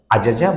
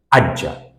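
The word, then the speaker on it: أجّ: And when the second and the third letter is same, the morphology, the sarf suggests that it should be pronounced not Ajaja, but Ajja.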